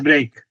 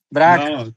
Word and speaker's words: Braque: George Braque. No se pronuncia así. Braque. No. Braque.